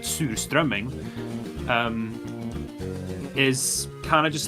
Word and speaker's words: surströmming: It's like surströmming, or as we pronounce it, surströmming, is kind of just like, it's something that usually only sells by the coasts, like the coastal cities.